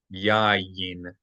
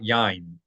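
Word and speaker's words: יין: Yayin. Yayin. Not yain. Not yain, but yayin. There are 2 consonant Y's.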